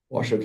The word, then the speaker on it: Washoe: We go back to the last presentation you saw in, let me say it right, Washoe County. Washoe County, 7.8 RVP.